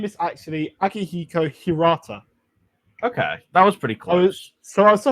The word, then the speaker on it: Akihiko Hirata: So his So his name is actually So his name is actually Akihiko Hirata. Okay, that was pretty close. I was off by one syllable, which is better than you could ever do.